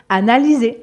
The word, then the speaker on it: analyser: Et comme le Y est considéré comme une voyelle, le S est entouré de deux voyelles. Il est entouré du Y et du E. Donc, il se prononce comme un Z. Analyser.